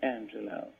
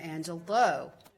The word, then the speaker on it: Angelou: Hello, my name is Angelou. It's a very beautiful name, I know. So it rhymes with no, Angelou.